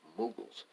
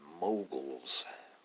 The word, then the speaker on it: Mughals: pronouncing it right and they they say that it's mughals and I think I've been saying mogul's my whole life and it's called White